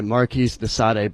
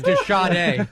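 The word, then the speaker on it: de Sade: Like something out of like a Marisade book. Marisade? Thank you, Dennis Miller. Jesus, the scratchy snippers, the sty. It's pronounced the e. Yeah, it's the shade.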